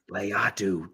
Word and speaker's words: Latu: How's it pronounced, Matt? Correct me. Latu.